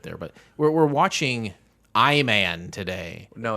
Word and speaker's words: I Man: show we'll get there but we're we're watching i man today no it's pronounced iman iman uh ivan i i thought